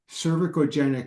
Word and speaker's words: cervicogenic: to C call muscle oh cervicogenic cervicogenic there you go that's how you say it um cervicogenic headaches uh well on